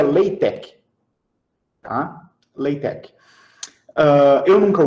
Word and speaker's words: LaTeX: em látex ah ah eu chamo de látex mas como chama de látex a pronúncia ou mais adequada seria later Oi tá playback Eu